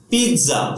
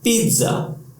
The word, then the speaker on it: pizza: of your favorite food, the pronunciation of this word is not pizza, not pizza. The pronunciation is pizza. Pizza.